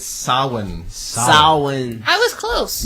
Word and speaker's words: Samhain: It's Samhain. Samhain. I was close. Not a real thing. Devon Sawa? That's not a real thing? It's spelled Samhain, but it's Samhain.